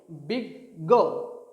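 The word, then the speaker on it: বিজ্ঞ: কিন্তু বর্গীয় জ এবং ইয় দুটোর কোনো উচ্চারণেই এখানে আসবে না, এটার উচ্চারণ হবে গ গ। দেখো বয়রস্যি গয় বর্গীয় জয় ইয়, বিগ গ বিগ গ, তাহলে নিশ্চয়ই বর্গীয় জ এবং ইয়র কোনো উচ্চারণ আসছে না, দুটো যুক্ত বর্ণ যুক্ত হয়ে হচ্ছে বিগ গ।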